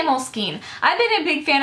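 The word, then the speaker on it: Moleskine: WR some people say Molin some people say m skine some people say mol skin I say Molin I've been a big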